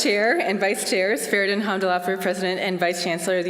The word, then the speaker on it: Hamdullahpur: It's like Cindy Lauper, right? So you just say Cindy Lauper, go Hamdullahpur.